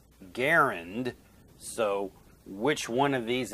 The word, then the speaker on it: Garand: that it was pronounced with G as in go and the stress on the first syllable to rhyme with parent, except the final sound is D instead of T.